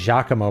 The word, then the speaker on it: Giacomo: Found out that Giacomo is pronounced Giacomo by watching the Danny Kai movie, The Court Jester. Giacomo. Yeah, I've been saying it wrong my whole life, apparently.